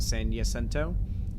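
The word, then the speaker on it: San Jacinto: a c i n t o but it's pronounced yento Mount San yento and uh it that was the inspiration from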